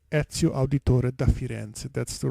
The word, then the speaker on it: Auditore da Firenze: CEO and yes and so it's a sea auditore da firenze that's the right pronunciation yes as you can see or now